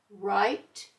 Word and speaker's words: write: W is silent. We just hear the R in write, rap, and wrist.